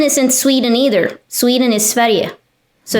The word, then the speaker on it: Sverige: Sweden is Sverige, so it's spelled differently.